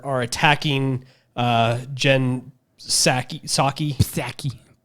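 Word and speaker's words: Psaki: attacking uh Jen Sak saki Pak it this p is silent manaki Jens saki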